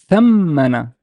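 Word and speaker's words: ثمّن: I would pronounce this as thammana, thammana, thammana, thammana.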